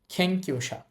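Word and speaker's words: けんきゅうしゃ: এরপরে আছে কিউ। থ্যাংক ইউ এখানে এটা উ এজন্য পরের উটটা আর উচ্চারণ করার দরকার নাই অলরেডি উ একবার চলে আসছে থ্যাংক ইউ তারপর লেখা আছেশা থ্যাংক ইউশা আপনি এটাকে থ্যাংক ইউশা বলতে পারেন অসুবিধা নেই বাট জাপানিজ খ এর মত বলে থ্যাংক ইউশা অর্থ হচ্ছে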